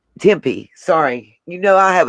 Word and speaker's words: Tempe: locked to someone in tupe arizona is that how you say it to me and tempe sorry you know i